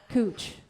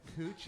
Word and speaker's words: Couch: to figure out that that cooch is a pronunciation of the last name from scotland oh did you know